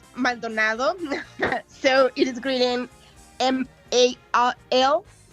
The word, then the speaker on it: Maldonado: It's pronounced Maldonado, so it is written Maldonado. So Maldonado.